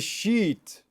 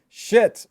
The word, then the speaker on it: sheet: That's a sheet. Sheet on the bed. Sheet on the bed. Be careful not to confuse that with shit on the bed.